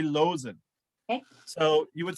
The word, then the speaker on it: Loosen: the doctor losing losing is that the right pronunciation i was saying loosen earlier losing it has the villa wolf label